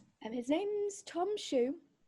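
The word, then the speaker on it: Shueue: and his name's tom shoe it's spelled s-h-u-e-u-e the second ue is silent but you've got to do the lips to it um yeah exactly and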